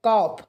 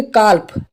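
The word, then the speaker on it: calf: एफ कॉफ ठीक है तो यहां पर अगर आप न्यू स्टूडेंट हो तो आप इस तरीके से पढ़ोगे कॉल्प कल्प इस तरीके से पढ़ोगे लेकिन यहां पे एल साइलेंट है इसके लिए पढ़ेंगे हम कॉफ ठीक है ऐसे बहुत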